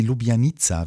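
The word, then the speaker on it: Ljubljanica: fließenden Fluss das ist die lubianiza wie ich gelernt habe so spricht man das aus und ich dachte nämlich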